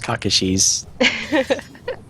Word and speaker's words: Kakashi: how do you say that yeah it's Kakashi well the pings are coming out and uh